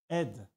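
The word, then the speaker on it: אד: écrit ici regardez ça ça se prononce aide et ça signifie vapeur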